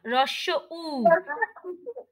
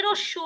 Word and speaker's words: হ্রস্ব উ: হ্রস্ব উ। হ্যাঁ, অনেকে বলে রস্যু রস্যু রস্যু, ওটা কিন্তু হবে না, ওটা ভুল উচ্চারণ। বলতে হবে হ্রস্ব উ।